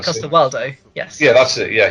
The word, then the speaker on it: Coster-Waldau: I think I'm Nikolai pronouncing. Coster-Waldau.